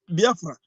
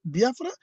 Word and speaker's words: Biafra: I will say Biafra. They say Biafra. I say yes. You can call it also Biafra. Anyway, anyhow you want to call it.